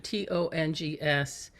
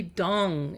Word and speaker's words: Tung: from that point forward people say Tong or they say Tong but it's really dong it's ding dong like dong like the da okay